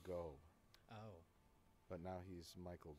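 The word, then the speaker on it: Gough: His name is Michael Gauch, I think. No, I think it's pronounced Michael Go.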